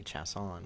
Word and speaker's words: Chason: you know my name's Chason and everyone called me chasson which is technically the proper pronunciation right cuz it's French but yeah um but